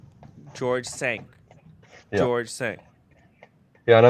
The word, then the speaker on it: George V: It's George Cinq. It's spelled Cinq, and it's pronounced Sanq, which is George V in French. So it's George Cinq. George Cinq.